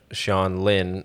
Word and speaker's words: Hsiang Lin: is just you your name so it's uh sean lin um on youtube and uh so yeah it